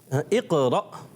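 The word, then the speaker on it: اقرأ: اقرا تو جلدی میں پڑھیں گے، قلقلہ بھی کریں گے. اقرا رکیں گے، اقرا ایسے نہیں کریں گے. اقرا. ماشاءاللہ ماشاءاللہ. پتہ چل گیا کیا ہے درست تلفظ؟ اقرا.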